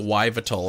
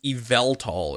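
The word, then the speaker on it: Yveltal: oh you call it why vital okay why vital yeah apparently it's evaltol is how you say it evaltol tool yeah what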